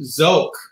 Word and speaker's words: Sook: uh but we i i'm pretty sure it it's pronounced zoke originally and and it was